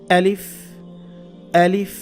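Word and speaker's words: أَلِف: আলিফটা বলতেও হবে এভাবে আলিফ আলিফ এটা খেয়াল রাখবেন শক্ত করে বলতে হবে হলকের শুরু থেকে হলক মানে কণ্ঠনালী কন্ঠনালী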